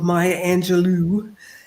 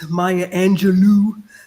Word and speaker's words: Maya Angelou: very powerful role of Maya Angelou uh as Oprah says mayia Angelou some of us say Maya Angelo uh either way we